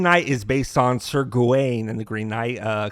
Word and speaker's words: Gawain: too familiar with uh sir gawain or gowin as he's as pronounced in the film though i uh prefer gawain so i'm just going to pronounce it sir gawain dave patel plays sir